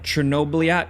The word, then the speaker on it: Chernobylite: Next, over at number 19, we have Chernobylite, or how it's actually pronounced. It's kind of like Chernobyliat.